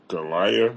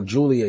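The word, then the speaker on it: Giulia: like Stephanie v here and what's the other Golia I don't even know how to say her oh Julia yeah Julia that's right that's the one that's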